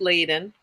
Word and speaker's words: Ladin: we go um sorry my last name is pronounced laden thank you laden evie laden yeah and uh